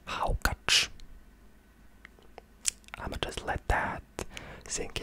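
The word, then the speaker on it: hákarl: we have iceland with something that's written as hakarel but it's pronounced as haukach i'ma just let that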